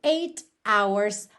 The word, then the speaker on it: hours: Hours começa com H, não é a vogal, mas esse H não é pronunciado. Então, o primeiro som que a gente tem da palavra hours é o som da letra O.